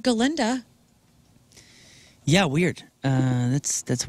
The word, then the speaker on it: Galinda: talk about this because Ariana Grande who plays galinda as she pronounced it on SNL last weekend but I've been pronouncing it since Glenda Glenda the Good Witch dude yeah she say